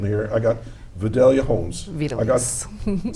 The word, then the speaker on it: Vidalys: I don't want to mispronounce everybody's name here. I got Vidalys Holmes. Vidalys. Say again? Vidalys.